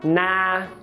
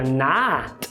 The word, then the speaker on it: not: bem comum eles falarem na. Por quê? Porque a palavra not é pronunciada com A. E a gente que tá vendo pela escrita quer falar not.